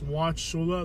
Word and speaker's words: Wauchula: The pronunciation of this town is Watcha. There is a U in there and it is silent.